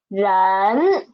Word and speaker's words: 人: First one is 人. Read after me, please. 人, 日, n, 人.